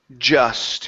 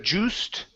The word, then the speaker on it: just: All right, let's go to the word just. Instead of juiced, okay, it's an sound, just.